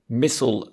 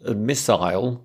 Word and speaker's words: missile: especially if the pronunciation for example missile missile they sound quite different but maybe vitamin and